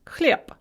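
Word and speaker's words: хлеб: consonant so for example cliab bread is pronounced clip na pisav the gerund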